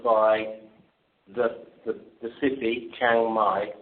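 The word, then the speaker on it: Chiang Mai: So the cabin followed by the the the city Changai. So that's spelled C H I A N G Chang and my is M AI.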